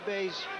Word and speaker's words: Bey: will see on david bay's left arm a tattoo that says babe it says b-a-y the reason he says he has that he says people always mispronounce my name so i'm not going